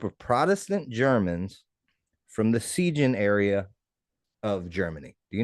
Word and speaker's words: Siegen: I probably would be if you pronounced it correctly. Something tells Siegen, me that's Siegen, not Siegen. S-I Yeah, give it to me. Siegen. Yeah. Ziegen. All right. Well, you know, The S there would be a you Z.